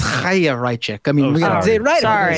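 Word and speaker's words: Chaya Raichik: She it's a Jewish name. It's Chayrachik.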